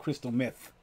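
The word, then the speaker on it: Crystal Methyd: Was Crystal Method.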